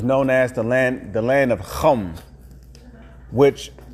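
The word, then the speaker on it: חָם: On the ancient biblical map, the land of Africa was known as the land of Chum, which Chum, Chaam, is how you say Ham in the Hebrew.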